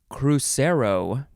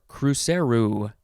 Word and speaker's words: cruzeiro: almost uh okay so the first word in this episode is crucero or cruceru it is spelled c-r-u-z-e-i-r-o cruzeiro noun from 1927 and